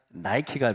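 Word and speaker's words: Nike: 월계관을 들고 있는 니케 여신. 이 니케에서 나이키가 파생된 것입니다. 우리는 지금 에베소에 있는 신전들을 내려가고 있습니다. 그러니까 온갖 신들을 모시고 있죠. 아까 좀 니케 여신이 있는데 니케를 영어식으로 발음하면 나이키가 되죠.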